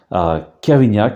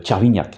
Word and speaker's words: Kervignac: Kervignac, qui localement se prononce Tchervignac, hein, on peut dire Kervignac ou Tchervignac.